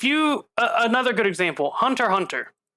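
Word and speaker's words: Hunter × Hunter: uh another good example hunter hunter you don't pronounce the x by the way you don't no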